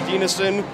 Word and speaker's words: Dienison: That is the correct spelling of my name, Dienison. Once again, it's a hard name to just say if you're reading it for the first time, but that is the correct pronunciation of my name.